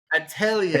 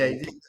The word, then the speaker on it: Atelier: Atelier. Atelier.